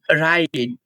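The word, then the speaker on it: write: Rule number 4, ডাব্লিউ এর পরে যদি আর থাকে তাহলে আর এর উচ্চারণ হবে, কিন্তু এখানেও একটা মজার ব্যাপার আছে, সেটা হচ্ছে ডাব্লুর উচ্চারণ সাইলেন্ট থাকবে, যেমন রাইট, রং, র্যাপ।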